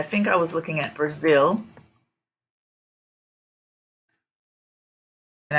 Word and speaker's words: Brazil: I was looking at Brazil and I said in Brazil Zil part is the strong syllable so you can see that here Brazil Brazil Zil is the